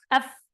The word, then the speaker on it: ف: الفاء كيف تخرج من بطن الشفة؟ أي شفة؟ الشفة السفلى مع أطراف الثنايا العليا، يعني إذا التصق طرف السنتين الفوقيتين هذا مع بطن الشفة في الأسفل، هنا ننطق الفاء، نقول هكذا أف، أف، أف، هذا حرف الفاء.